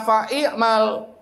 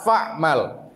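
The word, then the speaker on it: فَاعْمَلْ: Jadi bacanya bukan iza alim ta fa'i'mal, tapi bacanya apa? Iza alim ta fa'mal.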